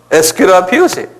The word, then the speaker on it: Aesculapius: 에스큐라피우스.